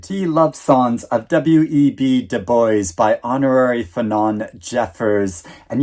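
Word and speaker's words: Du Bois: and re-evaluate it the love songs of web de Boys by honorary fenon Jeffers and yes it is pronounced Deb that is how web Debo pronounced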